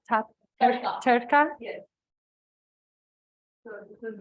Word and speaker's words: tadka: Is this called Tadka. tadka? Yes. So this is Will you describe what that is? yeah. Tadka is basically for Indians, it's the life of any dish. So dal tadka, you would have heard of that.